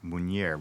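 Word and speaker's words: Munyer: So the spelling is m u n y er and it's traditionally pronounced munier which is Lebanese.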